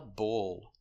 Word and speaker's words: bull: Example, that is not a cow, that is a bull. The sound bull. The L is a dark L after the sound. So the sound is in the back.